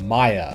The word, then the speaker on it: Maia: that he's been designing called Maya or he pronounces it may whatever it is I